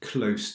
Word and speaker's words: close: Mais si c'est proche ou près, it's close avec un s.